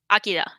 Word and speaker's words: Akira: The first pronunciation was right. Yes, Akira.